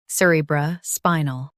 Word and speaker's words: cerebrospinal: Emphasize spy and keep null light.